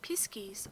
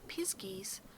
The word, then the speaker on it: pixies: The fairies of Cornwall may be divided into 4 classes: the small people, the pixies, pronounced piskies or the pisgies, the spriggans, and the knockers.